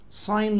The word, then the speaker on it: sign: sign language G silent هنا.